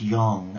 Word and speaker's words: yang: know that yin and yang pronounced Yong as in gong is one of the